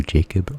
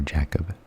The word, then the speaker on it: Jacob: A research student at Princeton named Jacob, this could be I think it could be pronounced one more way, either Jacob or Jacob. I've heard both ways.